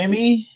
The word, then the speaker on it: Buscemi: Steve, I Steve can't pronounce it. Buscemi, Yes, him.